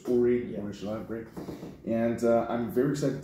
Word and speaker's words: Uri Shalev: And I pronounced it right, so it's Uri Shalev. It's Uri Shalev. Right, yeah. So I had a mistake. I initially made a mistake the first time I said Uri, but it's Uri.